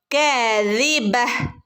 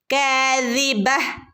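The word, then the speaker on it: كاذبة: കിബ് ഇവിടെയും നിർത്തുമ്പോൾ ത വരുന്നുണ്ട്. അപ്പോ നമ്മൾ അവിടെ നിർത്തുന്ന സ്ഥലത്ത് ത വരുമ്പോൾ നമ്മൾ അവിടെ തന് ഉച്ചാരണം കൊടുക്കേണ്ടതില്ല ഓക്കേ അത് പ്രത്യേകം ശ്രദ്ധിക്കുട്ടോ കിബ ഒരു ഹ സൗണ് ആണ് വരേണ്ടത് ട്ടോ തന്റെ സൗണ്ട് വരാൻ പാടില്ല ഒരു ഹിന്റെ സൗണ്ട് വരണം കിബ ഓക്കേ മൂന്നാമത്തെ ആയത്ത് ഒന്ന്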